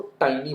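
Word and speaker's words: tiny: Little, टाइनी का मतलब होता है लिटिल, जो छोटा होता है, इसका टीनी नहीं प्रोनाउंसिएशन करते हैं, इसको टाइनी बोलते हैं।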